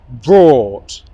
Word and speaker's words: brought: Brought, brought, brought, brought, brought. Okay? Do you hear or ah? I hope you said or.